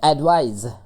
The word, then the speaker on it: advise: तो जो एडवाइस है, एडवाइस, ये ज पढ़ेंगे लास्ट में।